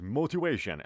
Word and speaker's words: motivation: دوستان عزیز motivation، اما در تلفظ آمریکایی اندکی دی میشنوید.